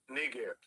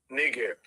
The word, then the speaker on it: Niger: And in Latin, it's not pronounced Niger. You understand? It's pronounced what he just said.